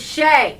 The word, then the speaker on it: Shia: It's Shay.